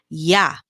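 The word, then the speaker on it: ja: next we have your remember j is pronounced like a letter y yeah that is your yes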